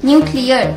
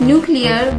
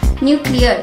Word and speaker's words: nuclear: The second word is nuclear. Many people pronounce them as nuclear, but the correct pronunciation is nuclear.